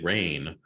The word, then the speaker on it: RAINN: But anyways, the article is called Insiders Say RAIN. That's spelled RAINN.